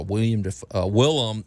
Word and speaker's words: Willem: No, it's not. It's Willem. Oh, okay.